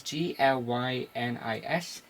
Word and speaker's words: Glynis: On the colouring we have Glynis Oliver, I can pronounce that, but it's Glynis, and then Tom Orzechowski on the lettering, and